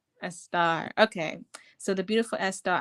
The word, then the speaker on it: Estar: I realized that Esther, the etymology of it is stara, which is Persian. And I said, what if I call myself a star? So that's Yeah. why I pronounce it that way.